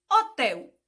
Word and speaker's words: hotel: Hotel. Eu escrevo como? H-O-T-E-L. Mas a pronúncia sai como se eu escrevesse como? O-T-E-L.